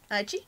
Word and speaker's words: Aichi: It's the exact same thing for TV Aichi, I think I pronounced that right? Aichi?